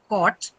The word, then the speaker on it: caught: One is the long sorry short O as you see as you hear in the word caught and then the long O as you hear in the word taught.